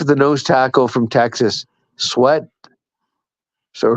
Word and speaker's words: Sweat: the guy for the nose tackle from Texas sweat so sweet it's pronounced he weighs like three 350 oh talking